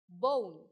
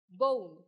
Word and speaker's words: bone: silent e number two bone bone how can I write bone that the B Oh long Oh and in the end silent e home home bowl bowl